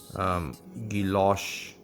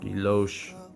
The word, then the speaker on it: guilloche: That is what guilloche or guilloche is.